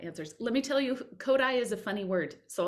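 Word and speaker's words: Kodály: Yeah, Uh, everyone says Kodali when they first, including me. I said, "What's Kodali?" And then someone told me it's called Kodai. it's It's Kotai, yeah.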